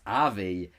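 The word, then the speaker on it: Avie: And now that's Avi, yeah, I don't pronounce it that way.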